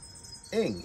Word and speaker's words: Eng: And she says, oh, it's like your language with an ish. And I'm like, oh, Eng, E-N-G is her name.